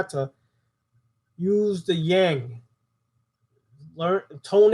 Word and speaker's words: yang: chakra the C sound of this chakra is yang yang Y ang yang and it belongs to the